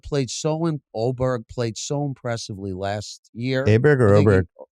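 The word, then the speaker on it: Åberg: Aberg played so Oberg played so impressively last year.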